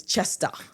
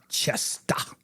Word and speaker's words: Chester: And you're not saying it right. It's Chester. Chester.